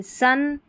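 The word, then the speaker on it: son: कम, love, तो यहाँ पर देखिए ओ का उच्चारण अ हो रहा है इन स्पेलिंग में। देखिए सन, इसको सॉन नहीं पढ़ेंगे।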